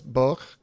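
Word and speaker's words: Boj: It's Boch, I think is how you say it. B-O-J.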